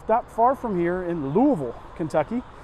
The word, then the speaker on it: Louisville: far from here in Louisville Kentucky that's how you say it Louisville and the majority of